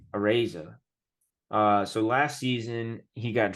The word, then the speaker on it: Araiza: The Bills punter, you know how to pronounce his last name a little bit better than I do. Matt Araiza. Matareza. Araiza.